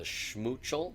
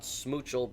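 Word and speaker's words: Schmoochle: And then the Valentine seasonal monster, The Schmoochel. Schmoochel. The Schmoochel. Very important that you got your sh at the beginning there. Not Smoochel, but Schmoochel. And the Wublin that has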